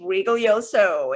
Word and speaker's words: Rigoglioso: guest for you today her name is marguerite regalioso it's very important to pronounce her last name properly we have learned